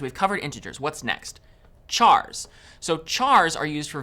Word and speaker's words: char: covered integers what's next chars so chars are used for variables that will store single characters chars short for character and sometimes you might hear people pronounce it as car so characters always take